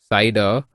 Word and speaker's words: CIDR: classless inter domain routing cidr pronounced cider is a technique that